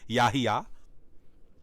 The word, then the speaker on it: Yahya: And that is how it's pronounced, Yahya.